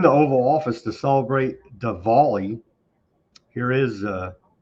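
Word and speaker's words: Diwali: we celebrate Da Dvali because they said there has to be a very heavy emphasis on the V Dvali Dvali beautiful Hindu festival of lights and that's what it is. It's a great festival and it's amazing people. Hindu festival. There you go. Dvali. That's not how it's spelled, but I guess it's with a V.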